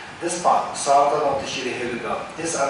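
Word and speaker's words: Śrī Heruka: So say Shri Heluga, Shri Heluga, Shri Heluga.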